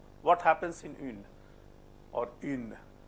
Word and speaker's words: une: What happens in une or une? Une, une. What happens here? You pronounce oo. Keep your mouth in the same position. Don't let your mouth move. Keep it there for 2 seconds.